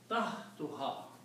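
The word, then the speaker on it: تحتها: When we combine these two, we do not pronounce two dhammas, we pronounce only one. So this will become tahtuha.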